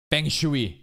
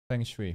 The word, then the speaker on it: feng shui: Feng Shui.